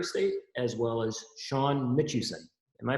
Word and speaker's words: Mitchuson: currently at Murray State as well as Sean mitchison am i pronouncing that correctly Sean that is correct there